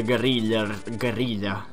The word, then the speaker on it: guerrilla: Largely the guerrilla. That's how it's pronounced in Spanish, guerrilla.